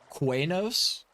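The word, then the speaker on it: Qeynos: Say it the correct way. Oh, quanos. Like q eu or q e y o us or something, right? N O S. Yeah. I love how I can I say it properly and I can't spell it. Oh, Enos. Nah, it's Quanos.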